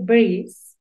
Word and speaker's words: breeze: Si la pronunciaste breeze, está muy bien porque tiene una doble E.